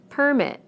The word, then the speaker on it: permit: Permit, permit. Again, we stress the first syllable in the nouns and the second syllable in the verbs.